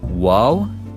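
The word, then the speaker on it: واو: And then we have Waw, and we pronounce it W like a W.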